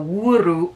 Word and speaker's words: Wuru: It says, remember to roll the R in Ru, so Wuru, Wuru.